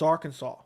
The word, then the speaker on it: Arkansas: really should be said art kansas but it's arkansas so the spelling and the pronunciation is weird every time i see that